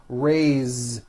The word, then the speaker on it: raise: a bit unusual because even though it is spelled with an S it's pronounced with a voiced Z raise so we say I raise with a voiced Z ending and he raises raises